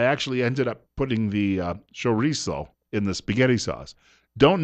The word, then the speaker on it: chorizo: Now, Benito tells me that I've got to pronounce it chorizo, even though when I look at it, being an English-speaking person, I say chorizo. He says, no, it's chorizo.